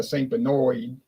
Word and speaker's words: St. Bernard: But in Chalmette, in St. Bernard Parish, or as they pronounce it down there, St. Benoit. I don't know how you get Benoit out of Bernard, but they used to